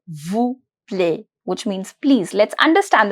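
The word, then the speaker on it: plaît: Vu play play play the pronunciation of AI is very close to E A that is a play my T is going to be silent s Sil Sil which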